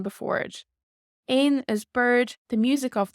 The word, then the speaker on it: éan: Ain is bird.